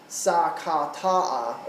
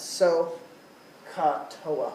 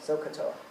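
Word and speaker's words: SOHCAHTOA: If you pronounce this as sa-ka-ta-a or something, it's not going to help. If you don't know how to spell it, it's not going to help. So you need to know how to say it and how to spell it. So-ka-toa. So-ka-toa.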